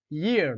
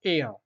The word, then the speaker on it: year: A year, non pas air. A year. Donc Y se prononce comme Y.